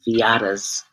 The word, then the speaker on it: Viata: Go to Soul Purpose Healing on Facebook, and also go to Viata's Tiny House Village on YouTube. And that's spelled Viyahta.